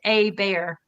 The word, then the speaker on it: Hebert: last name that's pronounced a bear not my first name is Amber but my last name is h e b e r t like Judy a bear but Amber a bear